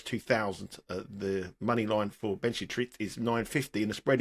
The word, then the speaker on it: Benchetrit: Is that how you pronounce it? Benchetrit? Benchetrit, yeah.